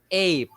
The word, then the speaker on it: ape: the word so for there's no e there because we will not pronounce the e so in this case the a with the bar at the top is pronounced as a a and then we end with the p sound ape ape there you